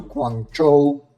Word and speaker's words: Guangzhou: And I bet you don't even know how to pronounce it name. Welcome to Guang Cho. One of the most impressive features of Guango is that it's a city built on water.